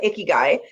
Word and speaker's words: ikigai: So I'm going with Ikigai.